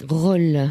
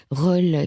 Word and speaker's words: Rol: Une émission au-delà du miroir ce soir par téléphone avec Marc Gallieux qui va nous parler de Roll, ça s'écrit R-O-L, Roll qui est né en 1903 et qui nous